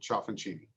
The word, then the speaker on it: Ciaffoncini: he did it perfectly i can tell he has some good italian friends that uh knows that ci is that chess sound but anyway thank you